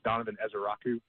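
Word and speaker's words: Donovan Ezeiruaku: It's Donovan Esaku. That's how you pronounce that last name there.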